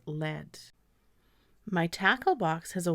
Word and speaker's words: lead: both have different meanings one meaning would be to show the way I would pronounce this word as lead I will lead the way to the roller coaster and i screen stand another meaning would be a heavy metal which would be pronounced as LED my tackle box has